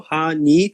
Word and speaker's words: 8ny: players have got together honey laundry it is spelled ate ny honey ha is kind of a sound connecting sound to the word hachi which means eight so ha ni laundry okay that's what it